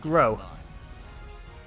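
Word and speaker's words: Groh: you pronounce it but i think it's grow first is grow grow yeah apparently it's pronounced grow get ready to vote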